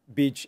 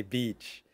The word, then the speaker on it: beach: In case you didn't know, bitch originally comes from female dog, and the sound is different. Very short. And you smile when you say beach.